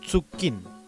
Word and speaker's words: tsukin: En el caso de la tsu, en muchas palabras del Chesungún tiende a reemplazar a la CH, pero también en otras palabras simplemente se pronuncia con tsu, ¿ya? Ejemplo de ello es la palabra tsukin, que normalmente los hablantes la pronuncian como tsukin, ¿ya? En Chesungún.